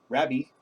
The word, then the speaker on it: Raby: read his name, and it's Rail Rider Raby, Baby, Raby. Rail Rider Raby. And I just can't do it. I always call it Rabby.